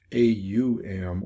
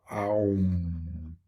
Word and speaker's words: Aum: And the most basic mantra is Om, O-M, Om, or it can be pronounced A-U-M or Aum, Aum, or Om.